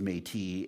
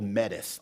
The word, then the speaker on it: Métis: i know identify as metis and and when people pronounce i get called medici all the time so that's one of my missions too is to get people to learn how to pronounce metis who are the metis